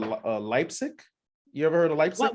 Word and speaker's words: Leipzig: so you heard of leipzig as well right leipzig did i say it right uh yeah yeah